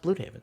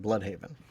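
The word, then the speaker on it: Blüdhaven: And they like that's pronounced blue haven. So I maybe that's I mean maybe but in Creature Commandos they pronounce it blood haven.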